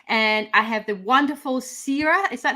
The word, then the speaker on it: Siera: morning in Sydney and I have the wonderful Sarah is that how I pronounce it by the way yeah it's funny